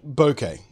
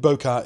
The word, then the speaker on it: bokeh: lies see the word bouquet or bokeh depending on how you want to pronounce it I think bokeh is actually the more accurate pronunciation but I always say bouquet for some reason to